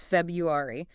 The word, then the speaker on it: February: It's not February, it's February.